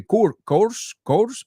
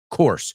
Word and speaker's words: course: All right, it's course. Say it with me. It rhymes with horse, right?